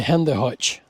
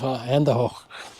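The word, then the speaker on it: Hände hoch: Ladd could see their silhouettes, and Ladd shouted at the two men to Handy Hutch. Handy Hutch. It's a brutal pronunciation of Handy Hoch.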